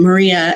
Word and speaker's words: Maria: the part where um maria and i've been saying mariah so i apologize i've been pronouncing it wrong there's there's actually um